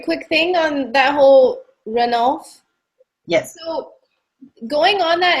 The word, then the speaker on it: Ranulph: characteristics of Annabelle and, I always say his name wrong, Ranulph. Is that how you say it, Melanie? Ranulph is how I say it.